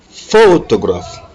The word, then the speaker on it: photograph: In number 22, the stress is on the first syllable. Photograph. Photograph. Photograph. L'accent est mis sur le faux.